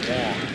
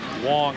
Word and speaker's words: Wang: The signs make more sense when you realize he pronounces his last name Wang. Wang is right.